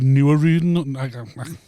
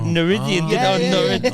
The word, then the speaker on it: Nooruddean: One of the weird pronunciations that I get a lot is they think it rhymes with meridian. I said Nooruddean.